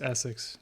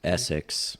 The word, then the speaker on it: Essex: nice sx poles there it's pronounced essex essex like i have a problem talking sx it's e-s-s-e-x right s that's the the